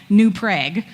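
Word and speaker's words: New Prague: dish first of all they also pronounce a town that is clearly named after Prague new prag this is something I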